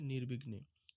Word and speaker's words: নির্বিঘ্নে: নির্বিঘ্নে, নির্বিঘ্নে উচ্চারণটা হবে নির্বিঘ্নে।